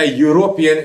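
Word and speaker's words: European: वो गलत है, क्योंकि इसका उच्चारण में यह आ रहा है, यह व्यंजन होता है। आप ये मत देखो कि ये ई से स्टार्ट हो रहा है जो वोवल है, ठीक है।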